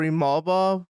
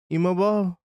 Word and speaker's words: Imavov: So when I say his name, we're gonna go with Imavov. It could be Ivaloyev, but I'm gonna go with Imavov until somebody tells me different.